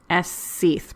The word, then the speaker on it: aos sí: specific tribe called the SC's but it's spelled AOS sí that I don't know how much everybody knows about the language of Ireland but it's it's spelled one way and pronounced a different way how confusing right I